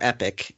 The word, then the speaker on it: Epoch: i believe atar well originally it was epoch epoch in 1980 or epic is actually the the proper pronunciation of it they in 1980 put